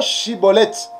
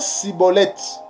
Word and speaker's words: Schibboleth: euh des des Éphraïmites ils avaient des difficultés pour prononcer euh le mot chibolette et il prononçait siibolette car il n pouvait